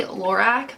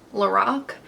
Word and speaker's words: Lorac: This is from, okay, I always say Lorac, but I'm pretty sure it's pronounced Lorac.